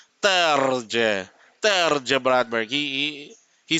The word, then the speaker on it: Terje: But we double check with Terje and he said the J is pronounced as J. So it's Terje.